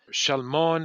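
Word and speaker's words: Salmon: is the father of Shalmon, if you say it correctly in the original Hebrew, who is the father of Boaz.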